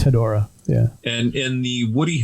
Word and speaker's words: Hedorah: it hedorah or a hedorah or what's the pronunciation of the smog monster should be hedorah okay just so i i you know if